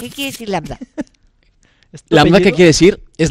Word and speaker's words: Lambda: Suéltate, bueno, yo soy Lambda. Ah, ok. por mi papá. Soy Lambda. Y bien difícil de pronunciar esto, porque como que sí. Te dicen Lama, te Lama. O me dicen Lambda o Lambda o Lambda.